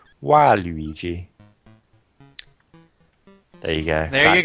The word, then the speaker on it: Waluigi: This is also the case for Waluigi, Bad Luigi, and works even better in Japan, where his name is pronounced Waluigi.